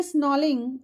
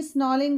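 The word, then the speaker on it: snarling: He should be स्नॉलिंग, यहाँ पर are silent है, he should be स्नॉलिंग around houses at the jungle as bearing his white fangs, his cause terrorizing the village.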